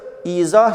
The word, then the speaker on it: izah: okunur başka bir örnek izah izah Evet idah şeklinde yazılır izah şeklinde izah şeklinde okunur son olarak Z harfimiz